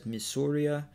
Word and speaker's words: Missouri: their language the WHUR the French pronounced it as Missoura which later American settlers then called Missouri Missouri's flag shows red